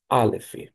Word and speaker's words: alef: Você pode para decorar, a medida que você fizer a letra para a aprendizagem ou fixagem, você pronunciar alef.